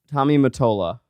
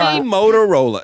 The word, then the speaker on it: Tommy Mottola: Tommy Mottola. Tommy Mottola. Okay. You couldn't read that? I didn't know how to say his last Do you name. know Mottola. Tommy Motorola.